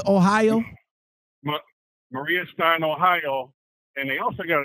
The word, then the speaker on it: Maria Stein: How you pronounce it? Moeller. Moeller. Moeller. Moeller Trucking out of Marie. What is it? Marie Stein, Ohio? Maria Stein, Ohio.